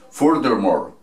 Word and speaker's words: furthermore: Entonces decimos furthermore, furthermore.